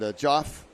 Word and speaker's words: Geoff: And Joff from Ventura County, Ventura, California, Jeff. wondering. Geoff. He writes it there. It's pronounced Joff. Oh, okay. Yeah, Joff. Right. But it's spelled like with a G.